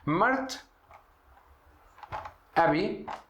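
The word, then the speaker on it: مرة أبي: Mart, abi, aqui Mará, né? Mas quando a gente vai ter sentido de D, vamos pronunciar como letra T.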